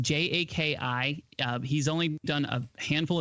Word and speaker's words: Jaki: So it's pronounced Jaki.